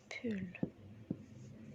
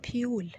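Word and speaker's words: pull: بول طبعا مش بتتنطق بيول، لا بول. بول يهوى اللي هي الاو، بول.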